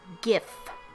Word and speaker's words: GIF: well well its gift we will never pronounce it jiff I don't care what the original creator says it's got a hard G it's gift this is August he's